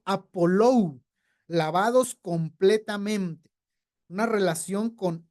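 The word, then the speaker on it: ἀπολούω: Bueno, entendemos que esto de estar lavados tiene relación en el Strong con el G628 que se pronuncia Apolou, lavados completamente.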